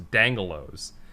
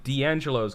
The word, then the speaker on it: D'Angelo's: to me i also pronounce the restaurant d'angelo's dangalos well that's not pronouncing that's just changing the